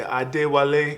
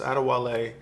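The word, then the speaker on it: Adewale: My full name, if you're my mother, you probably say Ade Wale. You say it like that, but it's just Ade Wale.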